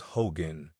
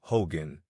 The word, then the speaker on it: hogan: word for Hut or house this is properly pronounced Hogan but the whites in New Mexico generally call it Hogan and the navajos never fail to understand the